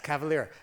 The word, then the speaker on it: Kavalier: Anyway, yeah, it's Kavalier, and I just was in Nashville some period